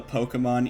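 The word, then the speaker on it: Pokémon: I just know that the Pokemon E is like... I'm pretty sure you're always supposed to pronounce it A. Pokemon. Because it's A in Pokemon and, like, Beyonce. So...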